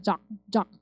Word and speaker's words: drug: 방송에 많이 나오는데 드러그 아니고 drug 이렇게 하시는 거야. 드러그 아니고 drug 이렇게 돼요. 드르 발음 합쳐서 하는 거예요. 블렌드인 거죠. 그래서 드러그 하지 마시고 drug 이렇게 하시면 돼요.